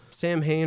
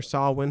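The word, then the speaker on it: Samhain: round and that's just because of Sam Hayne or sawi however you wish to pronounce it and in the thinning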